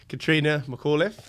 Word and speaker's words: Catrina McAuliffe: property Facebook group today I am joined by Katrina McAuliffe hi did I get your name right that's